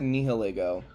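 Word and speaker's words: Nihilego: I've always said nihilgo. I I took Latin in high school and I think that's like how I was taught to pronounce that kind of thing and I um because it's like but it's probably like nihilism, right?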